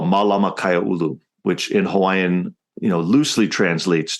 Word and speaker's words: Kaiaulu: This Malama Kaiaulu, is that how you pronounce it? Yeah, Kaiaulu.